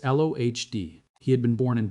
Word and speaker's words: Lody: The body chosen to carry the English sheet was Karl Hans Lody, pronounced Lohd.